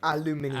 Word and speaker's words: aluminium: pronounce they pronounce aluminum the weirdest way ever. Aluminium.